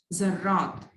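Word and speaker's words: ذرّات: जर्रात, रे के ऊपर तशदीद करेंगे, ठीक है, यानी 2 मरतबा ये प्रोनाउंस होता है जर्रात, और जाल से शुरू करते हैं, जे से नहीं, ठीक है, जर्रा जर्रात।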